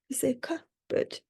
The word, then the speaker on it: cupboard: Our sixth word for today is cupboard. Cupboard. And this can be quite confusing because we don't pronounce the P, we don't say cupboard, we say cupboard. So the P is silent, we don't pronounce it.